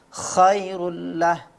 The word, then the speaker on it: khairullah: saya di sini adalah pada pelafalan Huruf H pada kata khairullah dan kata uhar ya itu kurang tegak seperti itu ya khairullah untuk Selain itu bacaannya